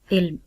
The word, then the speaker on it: علم: لفظ ہمارے پاس ہے علم۔ عین کے نیچے زیر، لام کے اوپر جزم اور میم کے اوپر بھی جزم آئے گی، اور اس کا صحیح تلفظ ہوگا علم۔ پیارے بچوں، پچھلے اسباق